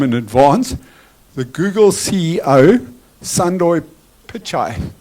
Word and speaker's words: Pichai: my left what the person's name how to pronounce the person's name. So I apologize to him in advance. The Google CEO Pichai Pichai.